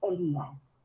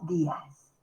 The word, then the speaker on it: Elías: primera persona mensaje yo mi apellido es elías no días nada más para ti ponerlo contra